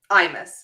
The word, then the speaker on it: Imas: By the way, how do you pronounce her name? Oh, this? Mm-hmm. Imas.